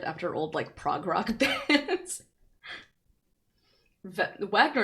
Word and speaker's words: Wagner: Wagner is pronounced Wagner because, bro, I didn't take German.